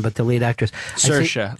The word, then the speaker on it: Saoirse: but the lead actress, Saoirse, like inertia.